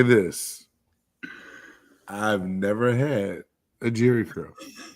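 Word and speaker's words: Jheri curl: Uh man, when you say Jerry Curl and it's J H E R I Curl, that's how you're supposed to spell it.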